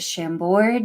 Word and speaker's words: Chambord: Is it Chambord?